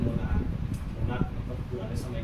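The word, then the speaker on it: monarch: जैसे एक वर्ड होता है मोनार्क, होना मतलब पुराने समय के राजा वगैरह होते हैं, स्टमक होता है, ठीक है।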